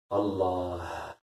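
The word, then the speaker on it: الله: Allah, Allah. Le h à la fin. Le ha à la fin du nom de Dieu. Allah. C'est ce h. C'est ce ha.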